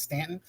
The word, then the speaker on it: Staunton: It's actually pronounced as Stanton, but it's spelled Staunton.